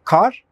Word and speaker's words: kar: olarak oldukça farklı kelimelerdir ilk kelimemiz kar kalın a harfi ile telaffuz edilir ve kısa söylenir kar anlam olarak kışın